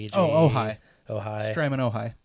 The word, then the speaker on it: Ojai: board I have and I don't know how to pronounce it Ojai oh oh hi oh hi stream in